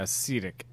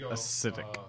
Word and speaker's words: acetic: Yeah, acetic, not acidic. Acetic. I thought you were saying acidic before.